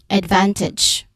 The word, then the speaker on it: advantage: Pronunciation-wise, on advantage, which our second syllable is stressed, van, advantage.